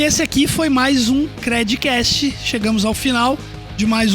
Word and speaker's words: Credcast: Até a próxima e não esquece de compartilhar também o nosso conteúdo aí com a hashtag Credcast, lembrando que o D é mudo.